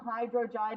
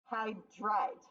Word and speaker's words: hydride: Hydrogen does not become hydrogide. It just becomes hydride.